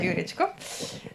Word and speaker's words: Jurečko: It's very good pronunciation. It's Sasha Jurečko.